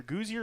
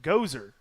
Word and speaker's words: Gozer: But towing the rubber this evening for the Tigers, that is Aiden either Gouzier or Gouzier. I'm not really sure how to pronounce it. Gozer. Okay. Aiden Gozer.